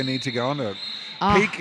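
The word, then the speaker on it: PEAQ: to go on a peak is spelt p-e-a-q by the way so if you want to look look them up online p-e-a-q peak conditioning and coaching and on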